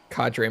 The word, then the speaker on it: cadre: kadre moment hey man don't tell me Tell Oxford dictionary that their pronunciation is bunk don't blame me for this I went straight for the dictionary and that's how they pronounced it this isn't on me CAD be enter the